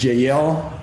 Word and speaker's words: Jeiel: a great friend of mine uh mr david jael jl is the way you pronounce it right okay like a biblical name